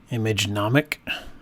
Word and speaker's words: Imagenomic: under the filter menu image anomic portraiture I believe that's how you pronounce the company's name so here this brings